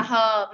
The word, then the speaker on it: her: Phải đọc là her mà là her. Her. Cong lưỡi cô. Lên có chữ a thì phải cong lưỡi.